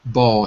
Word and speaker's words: ball: Man with the ball it's a round sound it's a what round sound ball yes ball it's and oh and when you say round it's true because your lips have to be rounded ball like that that's right that's right